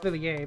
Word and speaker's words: Villiers: Pretty sure it's supposed to be pronounced Villiers, but whatever.